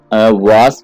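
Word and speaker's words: vase: फूल गुलदस्ता यानी जिसमें हम फूल वगैरह रखते हैं उसको हम फ्लावर, इसको वास भी पढ़ते हैं लोग और वेस भी पढ़ते हैं। फ्लावर वास या फ्लावर वेस।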